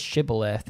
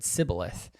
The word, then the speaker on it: shibboleth: that they say is shibboleth and they could not pronounce it right they didn't say the sh properly we said sybilith and so they found